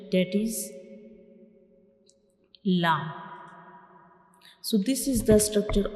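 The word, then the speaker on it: ل: So when we pronounce lamb, the tip of the tongue will touch the gums behind the upper front teeth.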